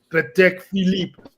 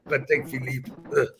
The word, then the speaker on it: Patek Philippe: the trick, which is when speaking French, you must twist your face into the most arrogant, hateful position, and then it will flow. Vacheron et Constantin, Patek Philippe, Aldimar Piguet, and you say it like you're cursing at a homeless bum on the street. That's how that works.